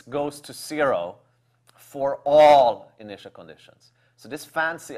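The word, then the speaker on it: ∀: to know is that when we see an upside down a the way we pronounce it is for all X knot so ASM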